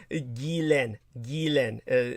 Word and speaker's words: Ghislaine: Ghislaine. So we'll stick with that. Oh, all right. I keep forgetting the S is silent.